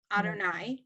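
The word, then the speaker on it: אדני: you see the yud yes um that is pronounced adonai right and is that the most common is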